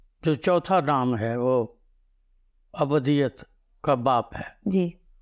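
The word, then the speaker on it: ابدیّت: کا باپ ہے۔ جی، اس کو لوگ اکثر غلط تلفظ کے ساتھ بولتے ہیں، یہ ابدیت نہیں ہے، جی، کیونکہ دال کے اوپر تشدید ہے، جی، تو اس لیے یہ ابدیت ہے، ابدیت، کیونکہ یہ اردو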